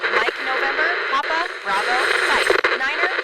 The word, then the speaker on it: niner: But when we pronounce them as five and niner, it's much easier to determine which one is which.